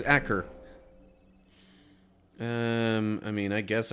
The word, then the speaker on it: Acre: attempting to pronounce it I had been thinking either acre or Acra turns out it was akur um I mean I